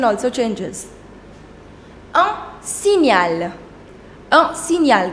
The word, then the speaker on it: signal: Un signal. Un signal. The combination GN, the sound is near.